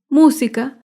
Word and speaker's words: música: Música se acentúa en la antepenúltima sílaba.